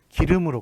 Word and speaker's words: 길음: 자 여기 성신여대 보면 길음역 있죠 기름 양악 5키로 맞다 계셨습니까 지명 입니다 고 1 망 세기 때문에 대문자로 적화 됩니다 자 그 다음에 취하 2 의 헬로 작구요 그 다음에 그 어좌 에리 아니라서 참 좋습니다 예 방 3 좋겠습니다 자 발음이 이게 기름으로 나죠 예 기름으로 나니까 요거 예절 8시 좋겠습니다 임해야 합니다 뿌리 이유 음 이렇게 젊게 맞습니다 기름에 그래서 바르니 기름으로 나니까요 얘네 좀 길음역 에